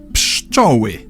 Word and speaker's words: Pszczoły: By now, you've realized that what may look like five consonants stuck together is actually just three. P is the same as in English and everything else we've already mentioned. P Sh Ch O W I.